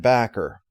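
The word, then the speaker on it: Bakker: by both horner and backer now i have heard it said that it's supposed to be pronounced bocker i'm not sure about that though it wouldn't surprise me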